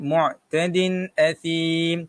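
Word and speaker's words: مُعْتَدٍ أَثِيمٍ: Okey, mu'tadin athim. Tanwin bertemu dengan huruf hamzah tuan-tuan. Apakah hukum dia? Kalau tak tahu hukum dia, macam mana cara bacaan dia? Cara bacaan dia ialah jelas.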